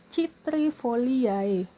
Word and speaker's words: citrifoliae: Sini ada Citrifoliae. C di sini diikuti oleh huruf I, sehingga penyebutannya itu berubah menjadi S.